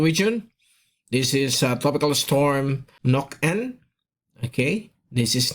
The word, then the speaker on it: Nokaen: This is and we're back bringing you the very latest update on Tropical Storm Ada with international name Nokaen. That's how it is pronounced.